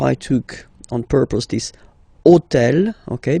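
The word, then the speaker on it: hôtel: So I took on purpose this hotel. Okay? Because it starts with ash. But remember that in French we don't pronounce ash. Okay? So basically the first sound of the word is the vowel o.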